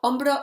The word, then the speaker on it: hombro: a so it's feminine hombro ombro is with silent h and it ends in